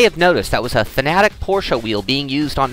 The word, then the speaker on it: Fanatec: Anyway, Thomas of Fanatic, and we've been getting some crap about not crap, but people have been correcting us about calling it Fanatec or not calling it Fanatec. It's Fanatic, right, Thomas?